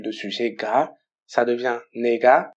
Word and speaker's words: 네가: 네가, tu, c'est no avec la particule de sujet ga, ça devient nega, mais généralement à l'oral on le prononce niga.